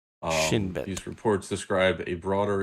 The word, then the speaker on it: Shin Bet: I'm pronouncing that right. That's 2 words. Shin and Bet. Shin Bet.